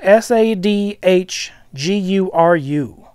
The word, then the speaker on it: Sadhguru: notice but I noticed this leader his name is spelled s ADH gu ru Sadhguru if I mispronounced I apologize but Sadhguru